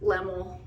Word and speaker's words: LemoL: but i go by lemmel so not a lot of people know how to say it it's like lem like a lemon and then ooh like a pool or cool just lemmel it was a nickname